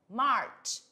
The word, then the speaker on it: March: March. March. Com esse som de CH no final, eu não vou falar como no português, tá?